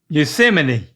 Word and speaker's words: Yosemite: Yosemite You nailed it.